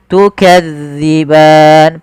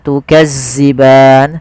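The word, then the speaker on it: تُكَذِّبَانِ: dalal hati-hati ya teman-teman jangan sampai dibaca dengan Zai jangan tukazziban sering terjadi yaitu mengganti huruf dalal dengan Zai tukazziban tukazziban ini sering terjadi kesalahannya harusnya tukzi tipis dalalnya tidak ada desis tukan kemudianfal ban ada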